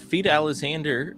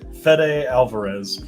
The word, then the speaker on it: Fede Alvarez: Yes, I totally butchered that name. What is it? Fede Alvarez. Fede. Hey, I could have said feed, and it would have been I think you worse.